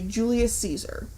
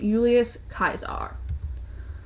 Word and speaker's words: Julius Caesar: In English, we say Julius Caesar. However, in Latin pronunciation, the name is pronounced Julius Caesar.